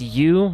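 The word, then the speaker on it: ewe: What was Ian? Like a goat or a sheep? Oh, that's pronounced U.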